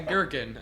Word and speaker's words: gherkin: in your mouth a girkin I like a girkin in my mouth is it like a silent G like no it's like